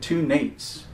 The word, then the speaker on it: N82: The holster is from a company out of Lexington, North Carolina, and I think they pronounce it 2 Nates, N82, N8 squared.